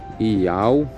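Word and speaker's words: יהוה: Que se lê Iau no transliterado.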